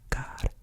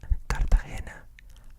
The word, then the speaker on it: Cartagena: So Cartagena. This is not a g sound, it's henna. Cartagena. Cartagena.